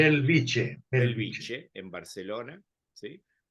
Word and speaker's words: Bellvitge: ¿Así se pronuncia? Bellvitge. Belviche, Belviche.